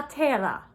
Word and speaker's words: terra: Casca La Terra. Good. And terra, if you can, roll your R's. Roll your R's with that, terra.